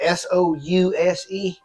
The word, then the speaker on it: souse: YouTube, they call it S-O-U-S-E, M-O-U-S-E. S-O-U-S-E, I think it's pronounced souse, the souse meat, the way you prepare it, boiling it and putting seasoning and letting it congeal.